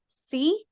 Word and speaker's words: Szwarc: And then the second movie is someone named Janot Swark. Schwark, Swark. Schwark, Apologies for not being able to Zwark. pronounce that. Yeah. That's pretty. It's Szwarc, for those of you who might know how to pronounce that.